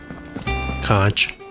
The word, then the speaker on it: conch: that's how you say it conch conch shells that's funny what's our abilities